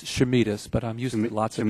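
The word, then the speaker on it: Chameides: Would you pronounce it for me, Doctor? It's Chamides, but I'm using lots of different variations, as you might expect.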